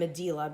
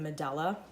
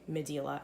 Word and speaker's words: Medela: I'm pronouncing the brand Medela because that's how I heard it pronounced by one of its company representatives in a video online. A lot of people pronounce it Medela, but since I got that pronunciation from the